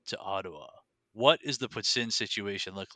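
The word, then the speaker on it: poutine: having never been to Ottawa what is the puts in situation look like there is there a specific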